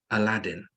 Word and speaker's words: Aladdin: But the correct pronunciation is Aladdin. Aladdin. It's not Aladdin. It's Aladdin.